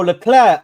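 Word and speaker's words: Leclerc: can't lie guys listen I've always been pronouncing it wrong then and the worst thing is I was in I was in like I was pronouncing it that way when I was in F1 spaces like these these men must have been laughing at me when I was when I was pronouncing it Charles L clir so it's CL Charles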